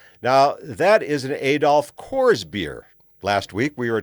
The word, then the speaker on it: Coors: If you're a Coors drinker, you've always got people telling you it's Coors. You see, you got to get the two O's in, and if you mispronounce it by going course, well, then you're wrong, and you're going to be corrected.